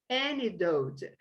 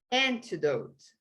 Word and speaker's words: antidote: As an antidote. No inglês americano, American English, eles nem pronunciam esse T. Agora, o britânico vai falar antidote, ok? E o americano vai falar antidote. Mas qualquer um está certo.